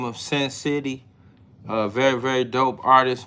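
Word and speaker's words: Sen City: Name of the song is right here by Sin City. It's spelled how it sound. S E N city all together.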